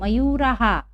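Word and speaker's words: मयूराः: और मयूराहा, देखिए विसर्ग के पहले आ की मात्रा है, इसलिए हम क्या उच्चारण कर रहे हैं? हा। तो 10 मयूराहा।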